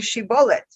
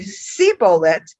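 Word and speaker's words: shibboleth: would say to him then say she bullet but he's if he would say see bullet not being able to pronounce it correctly thereupon they would cease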